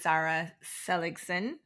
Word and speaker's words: Zara Seligson: Hello, my guest today is Zara Seligson. Did I pronounce that correct?